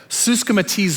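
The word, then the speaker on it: συσχηματίζω: what the Greek word is listen it's actually pronounced this way suzka matiz oh it actually means to shape one's behavior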